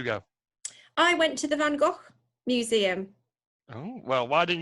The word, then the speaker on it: Van Gogh: Okay, well, I'm going to start by telling you that it's not the Van Gogh Museum, because I understand and have learnt from my visit that it's actually pronounced Van Gogh.